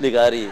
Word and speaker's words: Laghari: क्योंकि लिगारी इज the real pronunciation, उसकी सही तरीके। हम कभी कभी जब पंजाब में जाते हैं तो वहाँ पे बड़ा मसला हो जाता है, वो कोई लुगारी कह रहा होता है, कोई